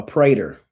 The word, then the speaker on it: praetor: So, this guy in a black robe is called a praetor. Somebody put in the comments. Praetor, praetor, a Roman praetor. I'm gonna read you all the definitions that I got of it. So, a praetor, praetor, Praetor.